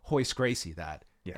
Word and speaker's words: Gracie: if you call Royce Gracie that. Yes. And yet I've been told it's Royce Gracie. That is the accurate pronunciation. Royce is not a thing.